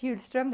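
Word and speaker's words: Hjulström: students curve and Swedish huge strum the H is silent so as a conceptual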